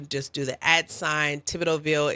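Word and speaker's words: Thibodeauxville: Well, the first thing you can do is search at if you go to Google, you just do the ad sign Tibidovville. It's spelled T H I B O D E A U X V I L L E.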